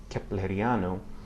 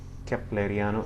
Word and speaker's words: kepleriano: It's used in names and other words borrowed from other languages, like the noun kepleriano, constructed from the name Kepler. Okay, kepleriano. It sounds like a K in any case.